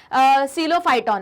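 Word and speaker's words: Psilophyton: सीलोफाइटॉन में, ठीक है। पी भी है, पी साइलेंट है ना, तो सीलोफाइटॉन मत बोलना, सीलोफाइटॉन, ठीक है।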